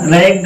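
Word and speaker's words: ragged: Double जी आएगा तो इसका हमेशा उच्चारण गा ही होगा। किसी भी शब्द में अगर डबल जी आता है तो उसका उच्चारण हमेशा गा करोगे।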